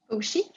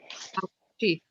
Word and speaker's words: Fauci: So the C is going to be pronounced like a CH. Fauci. Fauci.